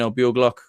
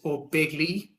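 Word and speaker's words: Ó Beaglaoich: First of all, it's O'Begley, Aaron. There's my lovely pronunciation going astray there. It literally means Begley in English. Begley's the English word for it.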